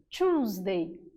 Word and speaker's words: Tuesday: Parecido com o som de 2 quando nós falamos. O início, choose, é como se fosse um 2 no plural. Tuesday.